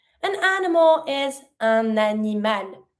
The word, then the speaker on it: un animal: An animal is un animal. Starting with the vowel, I connect my N with my word animal, un animal.